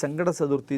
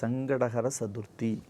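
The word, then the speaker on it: சங்கடஹர சதுர்த்தி: சங்கடகர சதுர்த்தி என்று பெயர் பலபேர் எப்படி உச்சரிக்கிறார்கள் அதை சங்கட சதுர்த்தி சங்கட சதுர்த்தி என்று சொல்வார்கள் சங்கட சதுர்த்தி இல்லை சங்கடங்களை ஹர என்று சொன்னால் சம்ஹாரிக்கக்கூடிய அழிக்கக்கூடிய சக்தி சங்கடகர சதுர்த்தி எவ்வளவு ஒரு உயர்ந்த இடையிலே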